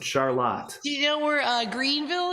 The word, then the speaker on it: Charlotte: It's spelled Charlotte, yeah. But we're fancy here, so we pronounce it Charlotte.